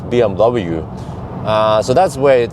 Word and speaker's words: BMW: this but uh recently when i say you know bmv people tried to teach me lecture me no no it's bmw uh so that's where